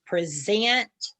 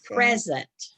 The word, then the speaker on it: present: The next word can be present or present. Or present. Okay.